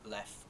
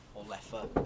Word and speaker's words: Leffe: This, as you can see, is a Belgian Abbey beer called Leffe or Leffe. People seem to pronounce it either way.